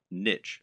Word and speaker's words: niche: Or to use the correct internet business parlance, what is your niche or niche as some people pronounce it?